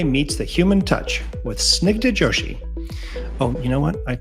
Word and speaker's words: Snigdha Joshi: Designing Tomorrow, where AI meets the human touch with Snigdha Joshi. Oh, you know what? I totally forgot to ask. Did I pronounce that right?